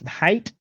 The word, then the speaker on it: Hite: well how are you great great now it's height is that that the am I proper uh pronouncing it the proper way yep that's correct height okay all right so Mr height like I